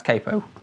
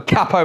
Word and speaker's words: capo: to start with uh cppo on Fret number six I know if you're in the states pronounce Capo but I'm from the UK I'm a cppo man sorry and we we're